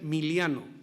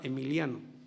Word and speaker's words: Emiliano: Decía Zapata, los campesinos le decían Miliano, él se llamaba Emiliano, no pronunciaban la E, por eso decía Miliano, Miliano Zapata.